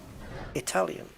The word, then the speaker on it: Italian: Yeah, it has to be remembered that a lot of words that begin with I, it is pronounced like it. Italian.